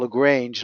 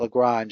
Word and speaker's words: Lagrange: that modeling look grey we used to call it Lagrange not Lagrange I don't know who's pronouncing it but that doesn't well I'm giving the French pronunciation because okay and and